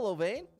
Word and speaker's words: Lovane: There you go, Lovane. Sounds just like it's spelled.